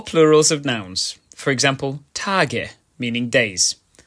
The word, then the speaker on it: Tage: of nouns, for example, Tage, meaning days. In this instance, the letter at the end is pronounced as a short ö.